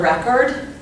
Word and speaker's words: record: So in this example, if we're talking about a Frank Sinatra record, the pronunciation looks like this, record. Here's the accent, so the emphasis is going to be on this first syllable. So a Frank Sinatra record, you put more emphasis on the first syllable.